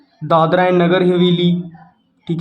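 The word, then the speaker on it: Dadra: हम ऐसे लिखते हैं डी ए डी आर ए दादरा ठीक है समझ रहे हो मेरी बात बट जब हम हिंदी में लिखते हैं तो हमें दादर पढ़ना है यहां पर ए साइलेंट होता है ठीक है दादर और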